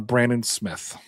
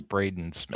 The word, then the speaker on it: Braden Smith: Mike, what are your thoughts on Brandon Smith? I think you pronounced it wrong. I think it's Braden Smith.